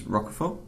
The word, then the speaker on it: Roquefort: So if you can get any of that, and I think it's Roquefort is the correct pronunciation.